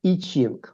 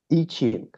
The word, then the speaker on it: I Ching: and Chinese tradition, there is a book called I Ching. I Ching. And it's called spell the book. That? Are you able to spell it's, that for me? The word I. Yes. Then dash Ching. C-H-I-N-G. I Ching.